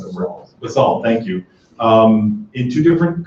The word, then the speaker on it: basalt: gray Pacific basalt, I'm not sure how to pronounce that word, basalt, thank you, in two different colors of gray, light and dark granite.